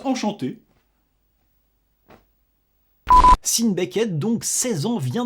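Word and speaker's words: Hsin: très jeune grimpeur américain Sin Becket. Ah s'il vous plaît me reprenez pas sur la prononciation quoi. Je veux dire sin H S I N.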